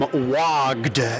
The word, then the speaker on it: WOGD: I'm here with Zach from WOGD. Yes, you heard me correctly. It sounds like WOG, like to be an orc and to call the WOG.